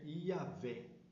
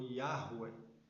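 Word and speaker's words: Javé: nome Pet agrama que a pronúncia mais próxima hoje é yavé ou yahu que é a Bíblia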